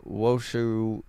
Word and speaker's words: Washoe: In an ironic strategy, police in Washoe County are now using e-bikes in an effort to catch those using e-bikes.